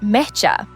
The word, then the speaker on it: mecha: It's pronounced mecha. Think of how you say matcha, but with an e. In Japanese, mecha is super common slang for very, extremely, or super.